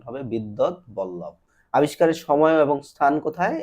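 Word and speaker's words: বিদ্বদ্বল্লভ: বসন্ত রঞ্জন রায় বিদ্যৎ বল্লভ কে বিদ্যৎ বল্লভ এটার উচ্চারণ হবে বিদ্যৎ বল্লভ আবিষ্কারের সময় এবং স্থান কোথায় এটা হচ্ছে পশ্চিমবঙ্গের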